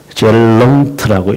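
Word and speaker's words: Zeeland: 근데 그들의 말로는 질랜드라고 하지 않고 젤렁트라고 읽으니까 이제 젤렁트라고 했을 뿐이고 실제로는 예, 질랜드죠.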